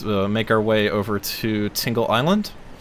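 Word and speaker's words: Tingel Island: our way over to tingled island it's spelled tinggal island like t IM GL but it I pronounce it like tingle because everyone loves tingle right right right guys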